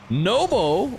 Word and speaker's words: Nwpo: Nobo or no Nou um is how he has declared his name to be pronounced. He mentioned it in the interview after winning at Raleigh. Uh I've been calling him Nupo for a long time.